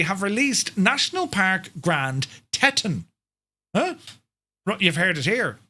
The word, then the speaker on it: Teton: Grand Teton, is it Teton? Teton? Is it Teton? Can you not pronounce or spell things? Teton. Thanks, lads. I knew the Americans or Canadians would like that. Teton is right.